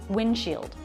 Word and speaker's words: windshield: Windshield. Notice here the D comes after an N before another consonant sound. It's very common to drop that D sound, and I did.